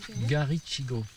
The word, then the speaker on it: Garichigo: Mais il n'y a pas de T, hein. C'est CH. Garichigo.